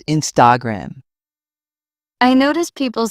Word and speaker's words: Instagram: Some pronounce Instagram with stress on the gram. It's Instagram.